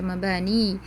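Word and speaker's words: مباني: Ini ya-nya bertasydid. Mabaniyun dibaca mabani.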